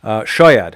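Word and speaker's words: شد: in the chat I I put the stress in the wrong the wrong syllable Shad has stress in the first syllable um it's and boad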